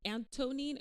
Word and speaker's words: Anthonine: Pier do you see anonine or anonine anonine an yeah the H is silent it's a h for